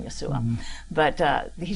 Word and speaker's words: Yeshua: I found Jesus and you know Yeshua is what how they say it. It means salvation Yeshua.